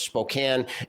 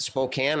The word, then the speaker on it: Spokane: And by the way, am I the only one that pronounces it Spokane? I noticed that some of you said Spokane. I hope this is not another pecan kind of thing.